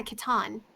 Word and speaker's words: Kitan: It's because, you take part of Kitty and then you take the end of Swan. Wouldn't that be Catan? Yeah, Kitan.